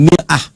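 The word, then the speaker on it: مرآة: Bahkan sering sekali orang Arab punya perumpamaan dengan mir'ah. Ya, kalimatnya sama, cuma cara bacanya beda. Al-mar'atu kal mir'ah. Yang satu pakai fathah, yang satu pakai kasrah.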